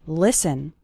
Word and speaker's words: listen: to an English podcast the letter T is silent in the word listen listen listen to an